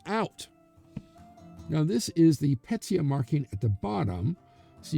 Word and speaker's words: pecia: Now, in the Pecia system, here's how it's spelled, P-E-C-I-A.